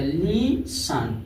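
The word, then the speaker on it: listen: जैसे देखिए टी ई एन है तो ई टी साइलेंट हो जाएगा, लीसन क्या हो जाएगा लीसन।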